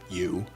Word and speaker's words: EU: James's AI, which was named You, spelled EU but pronounced You, had now become more than a chatbot.